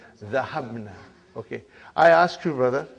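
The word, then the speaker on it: ذهبنا: Now, how do you pronounce? Zahabna. Okay. I ask you, brother, Zahabna.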